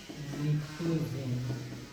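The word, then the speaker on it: pnictogen: यहाँ पे लिख के रहे हैं इस फैमिली का नाम है निक्टोजेन, पी साइलेंट, और इसको बोलते हैं चाल्कोजेन।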